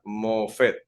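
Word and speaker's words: מופת: se utiliza esta palabra hebrea allí que se pronuncia mofet cuarto a veces los milagros se realizaban sin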